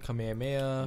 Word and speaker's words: Kamehameha: you go to hawaii if there's a w within the word pronounce with a v as soon as i